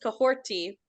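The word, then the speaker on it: Kahhori: Cohorty, pronounced Cohorty, is a real Wolf Clan name, meaning she stirs the forest, or is someone who motivates those around her.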